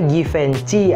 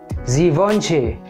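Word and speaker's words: Givenchy: atau parfum dari Prancis banyak dari kita itu termasuk saya itu bacanya givenfenci atau givfensi tapi originally atau seharusnya itu dibaca z vonce zivonce zivonce z vonce ya Memang agak aneh sih tapi itu originally atau seharusnya bacanya seperti itu oke berikutnya adalah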